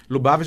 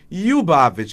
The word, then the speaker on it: Lubavitch: E a pronúncia em russo, apesar de escrevermos Lubavitch, a pronúncia em russo é Lyubavitch, que significa o quê?